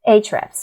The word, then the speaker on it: Ahrefs: Then I do a keyword research with Ahrefs, or I don't know how to pronounce that actually. Ahrefs. Ahrefs, yeah, perfect.